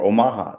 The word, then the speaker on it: Omaha: Or Omaha, that's how it's pronounced.